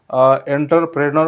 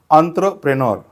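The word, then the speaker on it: entrepreneur: याचा करेक्ट उच्चार हा एंटरप्रेनर असा नाही होत याचा करेक्ट उच्चार होतो अंत्रप्रेनर एंटरप्रेनर एंटरप्रेनर म्हणजे अ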